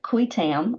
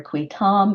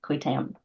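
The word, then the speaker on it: qui tam: so interesting about it qu Tam um is how I say it uh qu because it's Latin not not Spanish or French um qu so you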